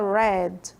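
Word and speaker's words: read: lembro se que tem uma mudança pequena que é na pronúncia dele tá do passado que é o mesmo sono da cor vermelho que fica red red red head to head to head Tudo bem então lembro que está escrito da mesma forma mas a forma de pronunciar diferente tá lembra da cor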